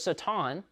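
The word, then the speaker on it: שָׂטָן: The way it's pronounced in Hebrew is Satan.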